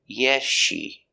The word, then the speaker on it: yes she: so it is silent the s is silent you don't hear it you hear yeshi yeshi yeah she just